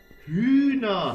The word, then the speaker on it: Hühner: Hühner. Ja, Hühner. Ja. Hühner. Una. Una. Was ist Una? Ja, eine Aussprache. Hühner hat er gemeint. Die ja, Hühner. Hühner. Schweres Wort für Franzose.